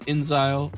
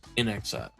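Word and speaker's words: inXile: a new game from Inzile. I guess that's how you say it. In due time, it appears to be a first-person shooter with in exile. That makes more sense.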